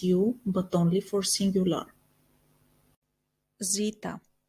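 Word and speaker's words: ζήτα: but only for singular Zita Zita which we pronounce as the like in the word Zoe Ita which we pronounce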